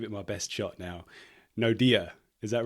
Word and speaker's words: Naude: Okay, so I want to make sure I'm pronouncing your name correctly. I'm going to give it my best shot now. Naude, is that right?